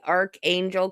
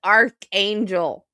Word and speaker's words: Archangel: You know, I find it ironic that she cannot say Archangel correctly, seeing how the ch in her last name is pronounced C and not CH. It's Archangel, Leticia, not Arch Angel.